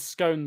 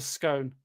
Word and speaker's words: scone: But at least we pronounce scone the correct way. It's a scone, not a scone.